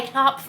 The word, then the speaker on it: Knopf: is published again by Knopf Books for Young Readers. Wow, that is hard to say. Am I even saying that right? I do think the K and the P are both pronounced.